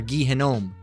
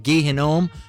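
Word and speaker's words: Gehinnom: really gehenna okay now it's of Hebrew origin all right which is uh gome all right gahome all right or gehenome all right geena gehanom or gehenna all right you can pronounce it a couple different ways and actually means lamentation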